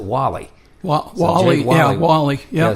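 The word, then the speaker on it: Walle: It's spelled W-A-L-L-E, and we just looked at that and thought it was Wall. But we have since discovered it's just changed the E to a Y, and he pronounces it Wally.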